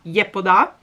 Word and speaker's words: Yepoda: moda che ho scoperto in coreano in realtà si pronuncia gli eco da circa comunque questa sarebbe la pronuncia corretta mi viene molto più semplice dire i pod ha però è uscito ragazzi